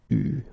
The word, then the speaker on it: eu: Il a eu, okay, you write it like that, but you pronounce it eu, okay.